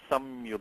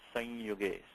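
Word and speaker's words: संयुगे: And you should not say it's samyuge. You should say it's sanyuge. Sanyuge.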